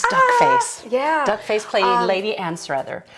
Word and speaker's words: Anstruther: Duckface playing Lady Anstruther.